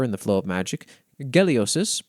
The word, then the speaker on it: Geliosis: Geliosis, pronounced with a hard G, god of the earth and personal judgment.